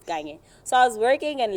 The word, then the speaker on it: Kanye: That one is pronounced Kanye.